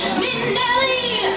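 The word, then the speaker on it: Minnelli: Then M-I-double-N, then E-double-L-I. You double up the N, that's not new. Then E-double-the-L, end it with an I. That's why you say Minelli, Liza Minelli.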